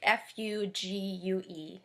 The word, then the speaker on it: fugue: at a piece called fugue in g minor so that might be a new word for most of you fugue f-u-g-u-e it's pronounced fugue not fugu or something like that and it is in